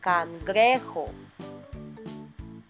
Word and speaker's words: cangrejo: You see, cangrejo has J as well, and it's pronounced cangrejo.